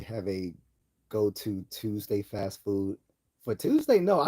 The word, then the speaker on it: pho: know um fa Vietnamese fa soup. The f noodles. I love fa um noodle soup, which is spelled pho by the way, but it's pronounced fa.